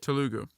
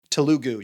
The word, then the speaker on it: Telugu: How do you pronounce it? Telugu. Telugu.